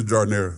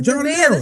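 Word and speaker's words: giardiniera: It's a jardinera. The Giordano.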